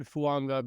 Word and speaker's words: Fuaga: have learned this pronunciation it looks like it's fuaga but his last name is actually fua which is different fua okay I didn't know